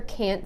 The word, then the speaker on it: can't: That stressed A, the long A, is what makes the difference. Rather than listening for a T from now on, listen for how the A is pronounced and you will know whether it's can or can't.